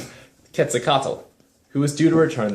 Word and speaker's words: Quetzalcoatl: Now Montezuma, the Aztec king, thought Cortés might be the god Quetzalcoatl, who was due to return... That's how you pronounce it. Quetzalcoatl, who was due to return that very year.